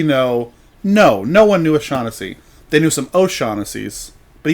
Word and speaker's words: Shawnessey: And they were talking about they talk about their local area and their friends, and they pronounced it Shaughnessy, like shock, like electrical Shaughnessy.